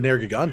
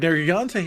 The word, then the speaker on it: Nergigante: So low rank Nergigante, yeah. No, he's back. Nergigante. Wait, surely that's how you're supposed to pronounce it. Gigante, like gigantic.